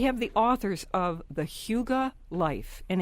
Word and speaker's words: hygge: into your day-to-day life is the essence of Huga Grace Simplicity and gratitude are the principles Hugo